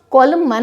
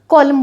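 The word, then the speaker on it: column: उसको डिवाइड किया है, तो इसको हम कॉलम मन नहीं बोलेंगे। एम और एन है तो आपका जो एन है ये साइलेंट रहेगा, कॉलम बोला जाएगा।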